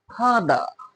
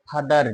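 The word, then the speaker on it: father: দেখো viewer he ইজ মাই ফাদার। হি ইজ মাই ফাদার। ফাদার না। এখন প্রশ্ন হচ্ছে কেন এখানে আর এর উচ্চারণ হলো না?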